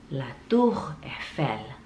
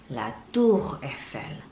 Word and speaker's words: La Tour Eiffel: Pertama pastinya La Tour Eiffel. La Tour Eiffel. La Tour Eiffel.